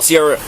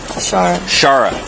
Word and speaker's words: Sierra: out of your way how do I say it Shara yeah okay I'll try to